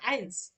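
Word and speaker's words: eins: বলি zero one টাকে যার মানে বলা হয় আইন্স বা এককে যার মানে বলা হয় আইন্স এই যে বানানটাও দিয়ে দিছি আইন্স টু টাকে যার মানে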